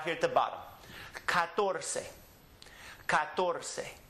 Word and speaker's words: catorce: The natural accent is on this syllable because it ends with a vowel. So we come back to this syllable and we emphasize this syllable and we pronounce the word catorce.